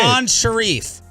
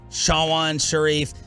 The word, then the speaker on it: Sean Sharif: Sean Sharif. That's the way it's supposed to be. Sean Sharif, not Sean Sharif, not Shawan Sharif.